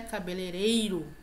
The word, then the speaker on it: cabeleireiro: Cabeleireiro.